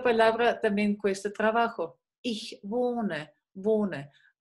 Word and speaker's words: wohne: Ich wohne, wohne. La H que sigue después de una O no se pronuncia.